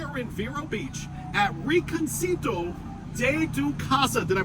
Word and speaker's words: Rinconcito de tu Casa: Right, as you guys know, so we are in Vero Beach at Rinconcito de tu Casa. Did I pronounce it right?